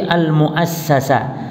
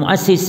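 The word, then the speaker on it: المؤسَّس: Kalau ini isim maf'ul, bukan muassis bacanya, tapi al muassasa. Ini al muassis, yang dibangun. Kalau al muassis yang membangun namanya, ya. Al muassis yang membangun, al muassas yang dibangun.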